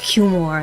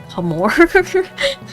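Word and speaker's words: Cumore: It's spelled a little bit more, but I think it's pronounced Cumor, not Humor.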